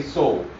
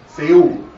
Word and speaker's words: Seoul: Most folks, myself included, still tend to say Seoul. But my father, he says Seoul, as many Europeans do.